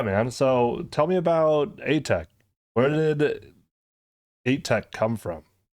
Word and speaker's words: ATEK: And you're like, it's Atek. Yeah. Not Atek.